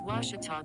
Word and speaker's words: Ouachita: university back in texas everybody pronounces it wichita but really it's ouachita washington how would you pronounce it it's washita baptist university get it right it's